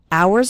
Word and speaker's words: hours: spend hours and hours remember the H in the word hours is silent so don't pronounce it at all hours and hours and the